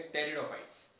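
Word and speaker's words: Pteridophytes: अब spore formation की अगर बात किया है तो उसमें हम पढ़ेंगे टेरिडोफाइट्स. टेरिडोफाइट्स का स्पेलिंग ध्यान रखना, इट इज P, Terry, starting होता है पी से, बट पी is generally silent.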